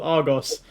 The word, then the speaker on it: Argos: live in the UK we have a retailer called Argos which is how we pronounce it but just hearing an American say Argos it just sounds so oh so like a thing here's the thing my